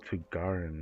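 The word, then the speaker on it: Tighnari: Oh, Tagarin, that's how you say it.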